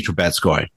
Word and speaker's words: Troubetzkoy: And joining me today are the co-creators of the series, sisters Karen Troubetzkoy and Nikki Troubetzkoy. Am I pronouncing your last name correctly?